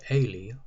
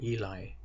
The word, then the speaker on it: Eli: the sons of the high priest Ailie or Eli in English pronunciation who were then sells